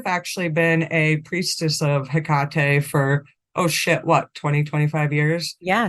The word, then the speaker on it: Hecate: You know, I would like to just quick start with people pronounce it differently. You might also hear Hecate. Or Hecate with no H. I think that's more the Greek pronunciation, but I don't know.